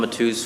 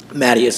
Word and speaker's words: Matus: Unless you're Portuguese. Mattius always comes out.